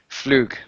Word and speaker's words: Flug: Flug. Okay, Fluga in. Okay, never mind. Okay. He said Flug is hard G.